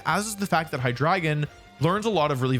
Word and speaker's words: Hydreigon: I actually know for a fact that the official pronunciation is Hydreigon. I'm not going to tell you why, but I did have to learn the official pronunciation of Hydreigon.